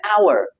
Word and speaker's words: hour: But this H, this H sound is not pronounced. It's silent. It starts with O basically. So it's an hour, not a hour.